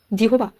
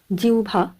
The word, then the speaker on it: জিহ্বা: উচ্চারণ একটু অন্যরকম হবে এখানে সঠিক উচ্চারণটি হয়ে যাবে জিউভা আওভান এবং গ ভর কোন পদ্ধতিতে এই শব্দগুলির